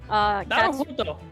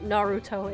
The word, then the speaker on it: Naruhodo: Cat has trouble pronouncing Naruhodo, so Naruhodo. Cat as a joke has just been saying Naruto instead.